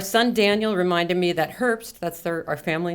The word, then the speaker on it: Herbst: And I always feel as though fall, Herbst, it's not the way you pronounce it. Really. Any German speakers, it's more like Herbst.